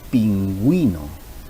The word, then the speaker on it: pingüino: tiene diéresis, sabemos que la diéresis lo que hace es darle voz precisamente a la vocal que la está utilizando, en este caso la U, y diríamos, como en el ejemplo, pingüino. Entonces estamos pronunciando ambas vocales. Agüita, estamos pronunciando ambas vocales.